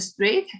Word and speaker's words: straight: a line straight okay look at the word straight energy and h it's a silent letter okay they are not